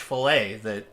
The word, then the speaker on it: fillet: Well, enjoy your fish fillet. Did you know the T is silent?